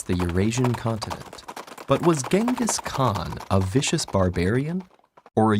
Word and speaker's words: Genghis Khan: First of all, it's pronounced Genghis Khan. Really? In Mongolia, yes.